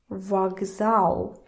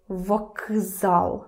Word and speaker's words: вокзал: Кз, кз, difficult. Try to say it quickly. Вокзал, вокзал. Вокзал. Nobody does that because it's easier to make к voiced.